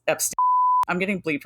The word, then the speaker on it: Epstein: will prove it is Epstein not EP no matter who tells you it's Epstein I'm getting bleeped right